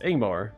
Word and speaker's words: Ingmar: And Ingmar is pronounced Ingmar, leading with a vowel sound.